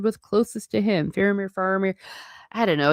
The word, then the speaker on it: Faramir: Famir, Faramir. I don't know. It's just it's very interesting the way they pronounce it in the movie is Phamir. So, I kind of went there, but Faramir.